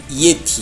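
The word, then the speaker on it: Yeti: 예티. 그러니까 또 좀 옛스럽네요. 그렇죠. 지금 요새는 예티라고 발음을 하는데 그때만 해도 이에티. 이에티.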